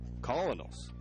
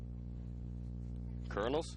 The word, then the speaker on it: Colonels: behind and it was actually sorry the Louisville colonist Colonels kernels spell calling oh look pronounce Colonel I got to do some more